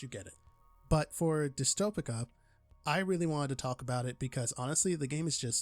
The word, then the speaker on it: Dystopika: a city Builder a small City Builder called dystopic there we go there we go I said it right dystopic a game made by voids within specifically according